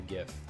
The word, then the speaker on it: GIF: with the savage beats right there is a pronounced gif or Jif it's pronounced gift choosy moms choose jiff gif